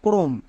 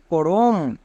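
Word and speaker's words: chrome: এর ক্ষেত্রে আর একটি নিয়ম হচ্ছে, সিএইচ এর পরে যদি আর থাকে তখন সিএইচ এর জন্য ক উচ্চারণ করব, সিএইচ এর ঠিক পরে যদি আর থাকে। যেমন দেখো ক্রোম, এই ওয়ার্ডটি সবার খুবই পরিচিত ওয়ার্ড।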